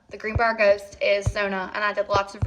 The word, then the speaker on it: Zona: So, Katie was right. I was wrong. It's Zona. The Greenbrier Ghost is Zona, and I did lots